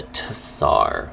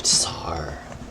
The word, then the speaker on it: tsar: rule over russia uh the tsar pronounced with the z but spelled with the t the tessar the tsar that's har people don't